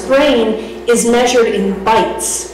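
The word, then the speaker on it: bytes: brain is measured in bites which is spelled b y Tes but think bites of a sandwich fill my stomach that's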